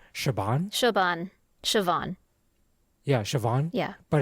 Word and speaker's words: Siobhan: Like a name that's been coming up that's become more popular is I believe it's an Irish name, Siobhan. Siobhan. Yeah, Siobhan. Yeah. But it's spelled not in a conventional American English way,